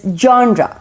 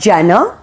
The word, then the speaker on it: genre: it's pizza pizza okay number nine is genre it is not janna it's genre okay jaunda number 10 is sava you